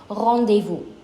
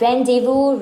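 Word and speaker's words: rendezvous: famous one that we have here would be revu it's not randevu Rand no R de V not Rend de Vu for an example I'm heading to my doctor's rendevu at 300 p.m.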